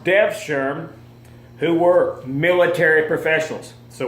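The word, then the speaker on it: Devşirme: The Ottoman Devshirme, and that's how that's pronounced, Devshirme, who were military professionals.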